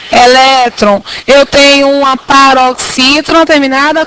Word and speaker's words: elétron: eu pronuncio essa palavra Alguns falam eletron se fosse eletron deveria ter acento mas a palavra é elétron eu tenho uma paroxítona